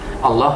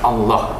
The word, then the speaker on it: Allah: Jadi pelafalan Allah dalam Islam itu dilafalkan dengan Allah. Allah. Ya, Allah. Allah. Ya, Allah. Jadi tulisan Allah di situ dilafalkan dalam Islam Allah.